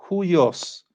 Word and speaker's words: huios: Huios. Se escribe con H, U-I-O-S. Huios. Y la H se pronuncia como una J, como una H inglesa, como una J, huios.